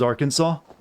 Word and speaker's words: Arkansas: again well i always say i actually do pronounce it as arkansas it's because i've had friends from there online